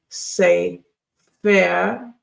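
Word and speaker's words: ספר: for book in books say fair searin okay it is a masculine ending looking at the questions it is two syllables and it um is accented on the first syllable and it has a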